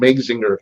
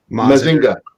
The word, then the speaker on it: Mazinger: It's so American, Mazinger. What? What do you mean? You're so American calling him Mazinger. How's it pronounced? Mazinga. Mazinga.